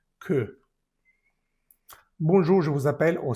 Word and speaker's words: que: No vamos a decir que, sino que, se pronuncia bien la E, que.